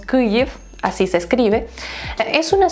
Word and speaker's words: Kyiv: En ucraniano se escribe Kyiv, en ruso se dice Kiev, pero bueno, en todos lados ahora la transliteración es del ucraniano, por eso decimos Kyiv.